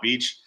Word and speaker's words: Kyle Beach: Beach? Is it Kyle Beach? Yep. Kyle Beach.